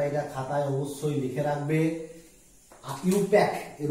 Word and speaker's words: IUPAC: ইউপ্যাক, এর উচ্চারণটা হচ্ছে ইউপ্যাক, IUPAC, ইউপ্যাক।